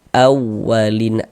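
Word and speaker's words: الأولين: Naber itu tekanan pada huruf-huruf tertentu sehingga intonasi suaranya itu sedikit lebih tinggi dibandingkan dengan huruf-huruf di sampingnya ditekan. Awwalin. Nah, dihentak. Awwalin begitu. Lin dibaca panjang.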